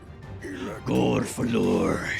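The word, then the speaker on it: Gurfurlur: Gorfalur.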